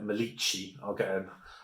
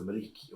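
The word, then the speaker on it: Maliqi: Now I think Albania's Albania's Janida Milici. I'm getting the opportunity to correct all my mispronunciations in my rankings videos because I think I called her Maliki or Milici.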